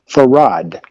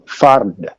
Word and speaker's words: Fard: Everyone who says that they had heard him use his name say that he pronounced his name Farad.